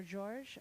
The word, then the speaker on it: Georg: Georg? Or George? I don't know how you Gorgeous pronounce.